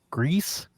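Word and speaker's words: Gris: made the game uh gree Greece whatever the you pronounce it Becca swears it's gree I thought it was G but the developers themselves they call it Greece and everybody in the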